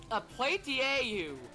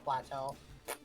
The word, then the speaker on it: plateau: Different pronunciations of plateau. Well, plateau. Yeah, when I was like little, I would say Indigo platieu.